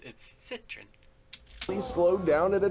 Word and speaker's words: Citroën: I also did like the way he stressed the word Citroën. It's Citroën.